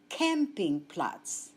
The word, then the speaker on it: Campingplatz: Take note of the pronunciation of the English word camping. In German, with the same spelling, the word is pronounced Campingplatz. Plural, die Campingplätze.